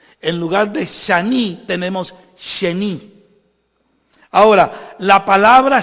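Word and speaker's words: שני: O sea, shani, con A. Pero como el hebreo no tiene vocales, y las vocales son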